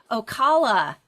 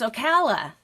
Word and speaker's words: Ocala: I've been saying Ocala. It's Ocala. I mispronounced it.